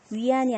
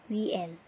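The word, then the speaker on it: yuan: 요 소리 정말 실수 많이 하는데. 위안이 아니고, 위엔.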